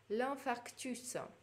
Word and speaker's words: infarctus: Дальше, le processus, процесс, какой-то ход действия, le processus, S читается, l'infarctus, S тоже на конце читается. И voilà, давайте все прочтем. Le cassis, Metz, l'anana, l'ananas, le consensus, le consensus, le processus, l'infarctus.